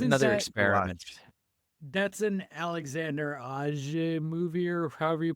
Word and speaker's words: Alexandre: That's an Alexander Aja movie, or however you pronounce his last name, right? Yep, He directed that. Alexandre Aja.